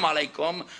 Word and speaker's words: alaikum: But the second part, they kept telling me, you're saying it wrong. I said, alaikum. No. Ah! It's standing back in here. Ah! Ah! Alaikum. Finally got it down, but I couldn't resist putting the Texas handle with it.